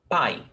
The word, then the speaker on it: pai: Yuri, is this only one syllable, pai, or is it pai? It's only one syllable, pai, because we don't separate diphthongs. Pai, okay?